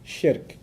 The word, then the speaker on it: shirk: Sounds like Shrek, so that's easy to remember, right?